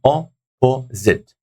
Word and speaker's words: opposite: Number three has got three syllables here. Opposite. So like opposite, opposite, opposite. So the first syllable is taking the stress, guys.